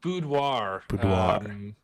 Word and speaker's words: boudoir: it's kind of weird because it's a French word that's right yeah pretty